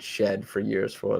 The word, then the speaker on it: Shead: Cade Gregory says college announcers pronounced it Shed for years for what it's worth.